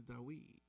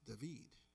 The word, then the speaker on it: David: Because while my name is David, in Hebrew it's Dawid. There's no hard v sound. It's Dawid, and then in Spanish it's David.